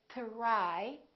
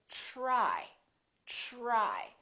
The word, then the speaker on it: try: example t are why we don't think to rye it becomes like a trip sound we say try try so the T are